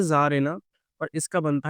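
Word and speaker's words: czar: थोड़ी सी spelling mistake है। ठीक है? होता क्या है बेटा? इसका पहले तो फेमिनिन बनता है जारेना और इसका बनता है एस ज़ना।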